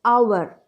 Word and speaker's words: hour: So, the consonant letter is the letter H, but the pronunciation is our.